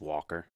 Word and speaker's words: Walker: It's just Walker. Just W-A-L-K-E-R. Okay. Yeah. So it's a hard K?